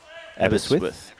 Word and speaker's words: Aberystwyth: So you have to spell it out for us, Mike, so we can pronounce it for you, mate. Aberystwyth? Yeah. Aberystwyth.